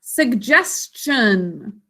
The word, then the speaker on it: suggestion: Suggestion. For suggestion, we're going to move that t to the next syllable as part of the -shan suffix.